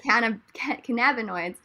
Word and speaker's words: cannabinoids: So the emphasis on that last syllable. I don't know if you guys know my Mike Myers jokes or whatever, but but yeah, I was like, cannabinoids.